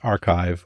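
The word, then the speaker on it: arXiv: in there to do that archive it's pronounced archive for people that are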